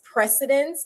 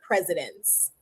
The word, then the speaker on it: precedence: And the pronunciation is precedence, not presidents.